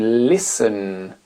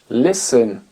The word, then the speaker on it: listen: ne se prononce pas la consonne t ne se prononce pas dans des mots comme listen listen écouter listen fen fen seat belt